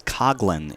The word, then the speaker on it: Coughlin: It's spelled Coughlin, and you're inclined to think of the former Giants coach, but no, it is Coughlin in this case.